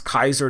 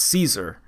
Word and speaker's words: Caesar: He says how dare you address Kaiser directly, and she's like, that is not even the correct pronunciation. It's Caesar, right?